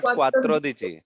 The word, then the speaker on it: quattordici: Yeah, it's undici, dodici, tredici, quattrodici, quindici, Quattordici, not quattordici, quattrodici. Quattordici.